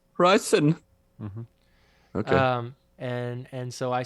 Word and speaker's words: Riesen: So there is this particular type of German chocolate that's sold, and it's spelled Riesen, and it's pronounced. You lost me. You're gonna have to say it. It's pronounced reasons. Riesen.